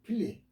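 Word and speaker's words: Philip: 필립. 필립이라 그래요. 영어 발음 필립. 우리나라 발음 빌립이라 해요. 빌립.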